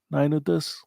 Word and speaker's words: Ludus: Uh Ludus, am I pronouncing right?